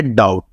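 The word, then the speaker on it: doubt: अब इसको डेबिटल नहीं पढ़ना और उसको डबिटल नहीं पढ़ना। ये है डे और वो है डाउट। ओके? बी इसमें साइलेंट है।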